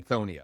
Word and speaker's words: Lithonia: Looks like you're a pretty active investor in the Lithonia area. Am I saying that right, Hank? Is it Yeah, it's Lithonia. Lie or lit? Lie. Lithonia.